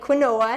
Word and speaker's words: quinoa: It's called quinoa. It's spelled Quinoa, and it sounds like quinoa, and people say it different, but it's quinoa.